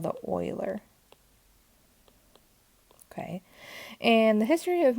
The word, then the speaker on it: Euler: even though it looks like it could be pronounced euler it's really called the euler okay and the history of mathematics is marked